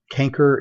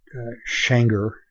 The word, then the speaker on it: canker: one as I recall canker is the way that CH a and C re is the way you're going to hear that pronounced not shanker as it is in your book however if you were